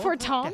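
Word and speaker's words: Fortemps: be said that house fort tom does not acknowledge the efforts of a rally that's pronounced for tom it was in the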